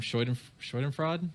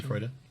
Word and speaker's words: Schadenfreude: Schadenfreude? Is that the right pronunciation? Schadenfreude.